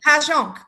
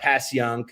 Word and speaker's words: Passyunk: Oh yeah, like Pashonk. Yeah, Pashonk. It's not Passyunk. It's not right.